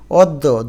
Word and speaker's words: অদ্য: যেমন কন্যা এখানে ন এর সাথে জফলা থাকা সত্ত্বেও ন দুইবার হয়ে গেল কন্যা অদ্য দইবার হয়ে গেল শিক্ষার্থী বন্ধুরা একই রকম